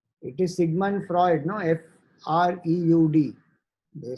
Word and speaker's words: Freud: Freud. They spell it as Freud.